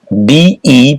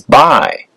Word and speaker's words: bi: Prefix. bi, pronounced as by, and some rare times as b. Meaning.